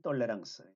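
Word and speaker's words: tolérance: 그래서 오늘날 보면 아주 그 굉장히 모범적인 대형 교회 같은 그런 모습인데, 여기 이제 핵심적인 문제는 뭐냐면 잘못된 톨레랑스 프랑스어인데요. 영어로는 그냥 톨러런스라고 읽으면 되는 거죠.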